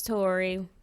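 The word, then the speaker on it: Toria: Tory. Torria. Period. R. My A is silent. It's just there for attention.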